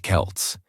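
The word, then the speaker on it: Celts: These ancient people were called the Kelts, pronounced Kelts, and they didn't have Instagram or iPhones.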